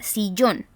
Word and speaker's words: sillón: Tenemos como ejemplo de acento gráfico o tilde la palabra sillón, que tiene 2 sílabas, ¿cierto? Sillón, cuya marca de voz, sílaba tónica, está en la última sílaba y recibe un tilde, ¿cierto?